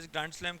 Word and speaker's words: ग्रांड स्लैम: पायल बताएंगे वट इ ग्रांड स्लम किससे रिलेटेड है एगजाम में ब बहुत आता है लम ग्रांड स्लम क्या होता है या ग्रांड स्लैम बोलते हैंडी साइलेंट शबद यस व्ट इज ग्रांड